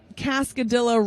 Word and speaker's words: Cascadilla: They wrote in their bio that Cascadilla rhymes with Godzilla.